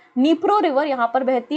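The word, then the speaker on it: Dnipro: एक नदी बहती है उस नदी का नाम है निप्रो रिवर क्या नाम है डी यहां पे साइलेंट है निप्रो रिवर यहां पर बहती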